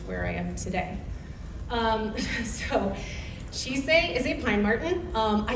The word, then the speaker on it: Chise: For pronunciation, again, it is Chise.